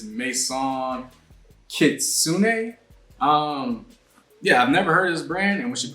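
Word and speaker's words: Maison Kitsuné: this brand um and I think how you pronounce it is Mason kitsun um yeah I've never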